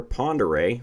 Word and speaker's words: Ponderay: on the river here Ponderay look up how that's spelled though you will laugh not spelled like Ponderay anyway they're on that